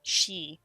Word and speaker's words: Sidhe: I'm thinking of the word, like, she, which is Sidhe. Ah, yes. One of the fairies. Yeah, so it's just like, it does not look the way you would assume the word is pronounced, but that's just because